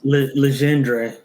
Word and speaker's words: Legendre: So, it looks like almost like legendary, but that's not how Legendre.